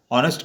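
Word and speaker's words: honest: उच्चारण करते हैं तो एच तो साइलेंट रहता है, लेकिन ऑनेस्ट का उच्चारण करते हैं और आ की जो ध्वनि होती है वो आ की ध्वनि स्वर में आती है, इसलिए हमने यहाँ पर आर्टिकल एन का प्रयोग किया है।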